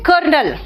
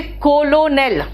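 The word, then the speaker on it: colonel: अब सुनो ध्यान से, नेक्स्ट पॉइंट जो है, हम लोग कहते हैं कर्नल, है ना, क्या कहते हैं, कर्नल। कर्नल बोलते हैं कर्नल, आर है ही नहीं। अगर आप स्पेलिंग के हिसाब से जाओगे तो कहोगे कोलोनेल, है ना, स्पेलिंग के हिसाब से क्या है, कोलोनेल, ठीक है।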